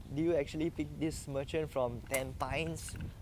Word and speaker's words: Tampines: Okay, do you actually pick this merchant from Tampines? Like what the heck, Tampines is pronounced as Tampines. Tampines, they go and pronounce. Malaysian, they'll pronounce Tampines one.